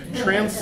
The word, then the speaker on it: Tranc: Charlie, is T-R-A-N-C, is that, do you pronounce that Trance or Trank, or how are we pronouncing this module? I don't pronounce it really. Transy. I never needed to. Transy, okay.